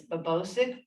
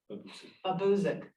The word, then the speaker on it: Babosic: bridge replacement, Eels Road over, oh my goodness, Babosic Brook. I hope, Jillian, I said that right. Buzik. Babuzik.